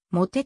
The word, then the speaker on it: motet: としている英語とフランス語は綴りが同じだがフランス語ではもてと読むモペットの語源は